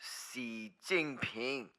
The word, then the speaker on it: Xi Jinping: It is pronounced Xi Jinping.